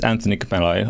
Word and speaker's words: Anthony Cappello: me a second he said his name is Anthony Capello I pronounced it Absol absolutely perfectly uh he's very